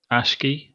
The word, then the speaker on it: Aqshy: Um, so tonight we're going to go through the death scourge of Ashki?